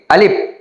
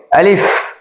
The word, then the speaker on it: আলিফ: যেমন আমরা যদি বলি আলিফ তাহলে এটা ভুল হবে। আবার যদি বলি আলিফ এটাও ভুল হবে। তাহলে কিভাবে উচ্চারণ করতে হবে? 2 ঠোঁট ফাঁক করে তাড়াতাড়ি উচ্চারণ করতে হবে। আলিফ আলিফ আলিফ আলিফ আলিফ